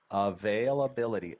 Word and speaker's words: availability: Let me check the availability. Avail, bill, t. Availability. 6 syllables here.